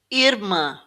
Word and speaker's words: irmã: Irmã, irmã. So this one's quite important because it's not irmã, it's irmã. So the m is stressed at the end.